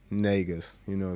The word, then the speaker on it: Negus: Of course, the screen name's right there at the Bassnegus, Negus. It's pronounced more as an A than an E, Negus, type of thing.